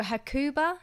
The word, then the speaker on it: Hakuba: Also Hakuba, is that how you say it?